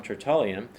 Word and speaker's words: Tertullian: Tertullian, pronounced by some Tertullian, he wrote a little